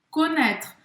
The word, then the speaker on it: connaître: O AI em francês vai ter um som de E, neste caso, connaît, e aqui no final a gente não vai pronunciar o E. Então, connaître. Connaître. Vai terminar a pronúncia aqui no R.